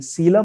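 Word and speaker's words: coelom: सीलम। तो ये देखिए नाम, सीलम। इसको प्रोनाउंसिएशन क्या करेंगे?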